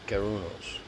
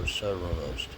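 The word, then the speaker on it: Cernunnos: It is dedicated to the god Cerrunos, or Cerrunos, depending upon how you say his name.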